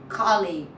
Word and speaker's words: colleague: Colleague. So nobody's saying colleague here. Colleague. Colleague. Colleague. Colleague. Colleague. So uh the American way is colleague. That's the O sound.